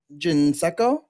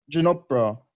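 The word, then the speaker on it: Ginepro: or this is where how do you say his name? Ginsecco? Ginopro. Ginopro. That's right. Yeah, I don't know why I said Ginsecco. I literally have it written down like multiple times here.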